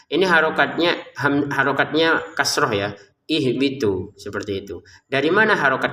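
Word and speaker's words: اهبطوا: Kalau orang Arab sudah bisa langsung baca, mereka akan membacanya ihbitu seperti itu ya.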